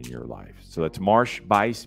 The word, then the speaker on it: Buice: So that's Marsh Buice, B-U-I-C-E. It's spelled like juice with a B in front.